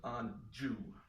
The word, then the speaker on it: Anjou: in the quintessentially Kleinian wordplay on Anjou, which he clearly pronounces Anjou.